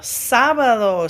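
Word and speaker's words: sábado: did Numero Uno Sab sabado Saturday Sab and remember that accent over the a gives you a really like accentuated um first syllable Sab sabado Lunes Lunes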